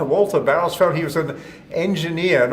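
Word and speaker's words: Bauersfeld: uh uh walther um barris how do you pronounce that name it's uh bowersfeld walter barrosfeld he was an engineer an optical engineer for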